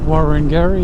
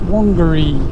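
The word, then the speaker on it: Worongary: it warren gary warren gary but it's not pronounced warren gary it's pronounced wongary proceed with caution crusher head exit 77 on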